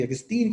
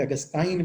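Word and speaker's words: Augustine: Philosophy बोएथियस की पढ़ाई जाती थी, थियोलॉजी अगस्तीन की पढ़ाई जाती थी, या सेंट अगस्टाइन भी समटाइम इसको प्रोनाउंस करते हैं।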